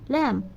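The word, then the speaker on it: lamb: ল্যাম এল এ এমবি ল্যাম উচ্চারণ করার সময় ল্যাম বলব আর লেখার সময় ল্যাম্ব ঠিক আছে উচ্চারণ করার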